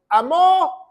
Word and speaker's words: amó: Dice, de tal manera Dios amó, con acento en la O, es en pasado.